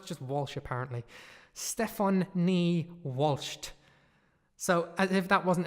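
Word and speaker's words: Stefonknee: K n ii ii ok Stefan knee like the knee of your leg Stefan knee Walsh not spelt in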